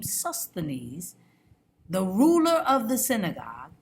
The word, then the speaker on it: Sosthenes: Then all the Greeks took Sosthenes is how you say this name, Sosthenes, the ruler of the synagogue, and beat him before the judgment seat.